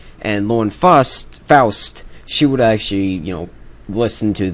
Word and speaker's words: Lauren Faust: Lauren Faust, actually, is how you say it.